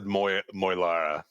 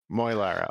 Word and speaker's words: Muara: Oh, I I I said Moara. Muara.